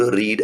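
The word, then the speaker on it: read: और इसका that I could रीड a book. तो इसका होगा अ बुक कुड बी बराबर। यस you will write here could be रीड का थर्ड फॉर्म रेड है लेकिन स्पेलिंग सेम है।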